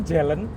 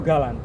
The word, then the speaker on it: Galant: Pasti ada yang tanya, bacanya itu Jelen atau Galan?